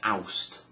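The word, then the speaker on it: Awst: God Fen August is oust as in like the um if you're British um like the air freshener you know oust or to get rid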